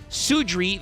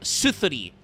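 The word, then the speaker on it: Suðri: Sudri the Phantom Glimmer, except that's not correct. The Japanese way is pronounced Genyo no Suzuri, because that's the Nordic squiggle sign that looks like a D. It's a Skathi situation. This should be like Suthuri, because he's named after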